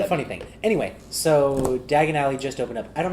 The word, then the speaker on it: Diagon Alley: Diagon Alley? Dagon Alley? It's spelled like diagonally, and it fucked me in the head when I found that out about 2 weeks ago that that's just what it was.